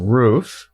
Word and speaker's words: Ruef: They're the brothers Bryan and Kevin Ruef. Kind of like which goes on top of your house, but it's spelled differently, R-E-U-F.